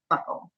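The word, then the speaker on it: buccal: typical and I've seen the videos of the Buckle and it isn't it b u CC a l is that right correct so people want to pronounce it B but it's actually pronounced Buckle yeah so people can look that up too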